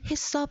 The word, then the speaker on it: HACCP: 관리 인증 기준 거는 해썹 이라고 읽고 haccp 라고 적습니다 일섭 제도에서는 소비자에게 위해를